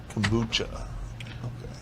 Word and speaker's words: kombucha: So interesting, like kombucha. Kombucha is how you say it, right? Kombucha. Yep.